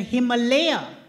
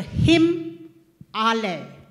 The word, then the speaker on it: Himalaya: these mountains please note it is really disgraceful that we continue to call the than the Himalaya they are the him all him means snow all a means home so if you take nothing back from this session remember what I am Telling You and pronounce this name correctly for the rest of your life just a counter if